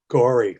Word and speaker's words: Gorey: which i thought was a very strange name gory for a town but it's not spelt the way we spell it and we tried to